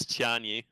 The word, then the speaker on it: Tianyi: So that's like way too many syllables to say in a cast, but Tianyi. Right, you can make it 2 syllables. Tianyi.